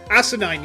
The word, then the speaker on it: asinine: emulate his day job asinine yeah it's as in it's like kind of like um uh thing like Arcanine yeah it that's how you pronounce it it's the same man